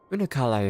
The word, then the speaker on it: Unukalhai: for coming hello child unukalhai is that how you pronounce her name unuk kalai is my name and I serve a